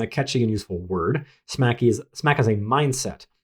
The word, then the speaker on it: SMAC: And it's SM lowercase a C with a hard K pronunciation.